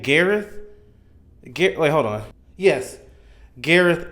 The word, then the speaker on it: Gareth: Gareth?